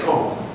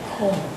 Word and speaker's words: comb: you pronounce pronounce the B necessarily, but you pronounce the L. Com and all the B. Yeah. Now I say I say comb comb. Do you have a comb I can use to brush my hair? Comb.